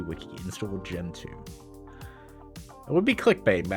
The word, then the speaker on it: Gentoo: we're going to do gen 2 this what we like welcome gen 2 linux if you say it right it sounds like you're saying the second generation of linux rather than talking about gentoo you know no shift